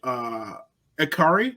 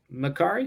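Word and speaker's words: Makkari: appreciate I honestly really enjoyed Akari. Did I say it right that time? Makari.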